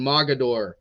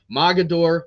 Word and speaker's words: Mogadore: Southern local 61 and Mogadore 66. I probably said that name wrong because it doesn't matter where I'm at or what company I'm in I'm pretty sure I always get corrected Mogadore mogador the the team with